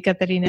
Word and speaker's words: Katharina: topic which is Karina from clob am I pronouncing your name your name properly Karina yes yes you do thank you so you're